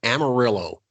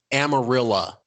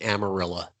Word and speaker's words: Amarillo: there before it became Texas my family's from Amarillo I'm sorry amarilla it's pronounced amarilla oh nice yeah so to put that out